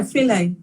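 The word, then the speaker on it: filet: to the non crochet what did you say was that how it's pronounced as f-i-l-e-t yeah fillet yeah when i think of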